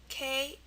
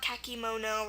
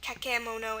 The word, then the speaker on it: kakemono: K-A-K-E-M-O-N-O. So our E in the middle here makes a schwa sound, the sound. So it's pronounced kakemono, not kakimono or kakemono.